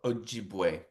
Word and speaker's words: Ojibwe: Ojibwe? Ojibwe.